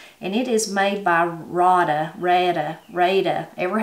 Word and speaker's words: Rada: it is made by rada rada rada every how you say it people i've heard people say it all different ways we say reda but r-a-d-a and you can find